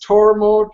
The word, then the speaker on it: Tormod: yourself tormod my name my birth name is torod yeah that is tood whiteone goat home